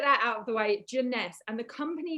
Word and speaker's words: Jeunesse: people right it's like how do you say the name is it jones is it jeunesse like all these different um ways of saying it guys it's jeunesse okay so let's get